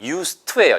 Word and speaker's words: used to: used to가 아니고요. 써있기는 used라고 써있지만 발음은 used to예요.